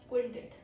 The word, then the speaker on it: quintet: we can say that's quintet. Pro tip is QU sounds like KW, guys already know quintet.